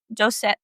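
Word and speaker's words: Josèphe: Just no, it's not Ian. It's just Josephe. Because there's no N-E.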